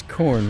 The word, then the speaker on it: Khorne: It is spelled with a K, but a Khorn.